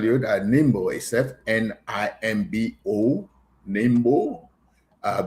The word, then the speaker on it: Nimbo: that Nimbo is fo nimbo. Uh many people will pronounce it different ways, but it's Nimbo, which stands for the National Independent Movement for Bai.